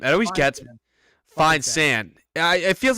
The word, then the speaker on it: Feinsand: So Mark Feinsand's, how do you pronounce that last name? It always gets me. Feinsand.